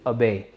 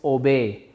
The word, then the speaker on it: obey: तो OBEY को हम करेक्ट प्रोनाउंसिएशन जो हमारी रहेगी वो रहेगी अबे। अबे, वी कॉल दिस अबे, वी डोंट कॉल दिस ओबे। हम इसे ओबे नहीं बोलेंगे, दिस इज़ अबे।